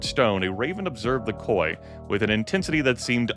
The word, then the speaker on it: koi: I'm pretty sure that's pronounced koi. Koi.